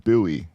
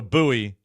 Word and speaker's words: Bowie: So he said, "Do you why would they call it buoy?" I said, "It's not a bad pronunciation. It really isn't."